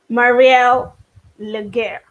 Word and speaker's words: Marielle Legair: now on Amazon join me as I welcome Marie el lugar did I pronounce it well yes you did you did